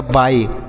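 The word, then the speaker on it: buy: तो इसे बी से ब पढ़ेंगे, बी से ब पढ़ेंगे और यू का उच्चारण अ के रूप में होगा और वाई का आई होगा, तो यह हो गया बाई।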